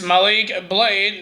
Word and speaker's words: Malik Blade: heard joel gaze against how he said his name is malik blade not malik malik blade and